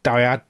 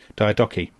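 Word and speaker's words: Diadochi: it absolutely screams of the Wars of the Diadcoy Diadecoy. I don't know how to pronounce that actually, Tommy. Diadeoki.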